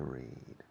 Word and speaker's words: read: But the pronunciation of the past tense and the participle is similar to the color red, like this pencil.